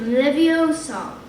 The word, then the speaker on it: Leviosa: arms like a windmill you're saying it wrong harry heard a mighty snap it's regarded leviosa make the sound nice and long you do it then